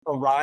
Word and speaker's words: Awry: Although people read it Ari all the time, and I guess I think people are going to mispronounce the name.